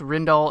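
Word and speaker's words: Rijndael: and the winner is Rindell it is pronounced Rendell algorithm and it became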